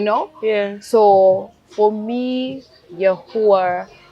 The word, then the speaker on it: Yahuwah: So for me, Yahuwah, which is what people pronounce as Yahweh, which is the I am, which is breath.